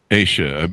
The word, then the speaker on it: Aysha: And And where did you get the name Asia? I'm pronouncing that correctly, all right? That's correct.